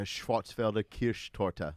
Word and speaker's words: Schwarzwälder Kirschtorte: The Black Forest cake, the Schwarzwälder Kirschtorte.